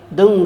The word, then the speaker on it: दं: क्या हो जाएगा दंग अब इसको ग कु कम बोलना है दंग ग को उच्चारण बाहर ना आने दे दंग दंग दुर्गाय शक्ति